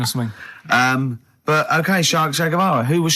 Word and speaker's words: Che Guevara: Che is like shake. And his his surname is like guitar. Right, Che Guevara.